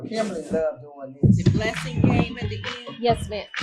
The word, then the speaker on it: Blasingame: My Facebook is BLASINGAME, Okay. but the book is Blessing under Game.